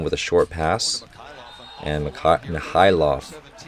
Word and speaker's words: Mikhailov: Chinanyezi, another one with a short pass, and Mikhailov. I got to remember that the K is silent. Mikhailov, I think that's how you pronounce it.